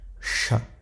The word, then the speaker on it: ش: Donc le Shin se prononcera sh, sh, comme si on mettait un s et un h, sha, comme ça, sha.